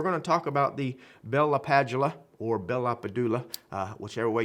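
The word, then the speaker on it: Bell-LaPadula: I think it's actually Bell LaPadula. I used to work with a gentleman, brilliant guy, that actually met or listened to him speak, and that's how he said he pronounced his own name.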